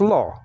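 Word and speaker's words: לא: And then you have a silent letter, aleph, right after that. So it's lo.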